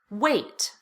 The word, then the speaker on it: wait: And this word, weight, as in how much do you weigh, is pronounced exactly the same way as this word. Wait, as in wait for me. So even though they look very different, the pronunciation is exactly the same.